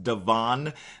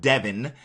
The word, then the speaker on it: Devon: by the way it's pronounced Devon not Devon and I am also